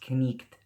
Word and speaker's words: knight: For example, the word knight, like knight in shining armor, used to be pronounced knicht.